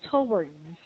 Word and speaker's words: towards: have Mhm. two version of Mhm. yeah pronunciations, and do you Yes. usually go with O? That would be British English. Oh, Towards, yeah. Or actually, sometimes it can even be schwa.